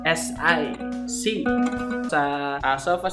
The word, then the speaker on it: si: C. Sa sofa syllables is T.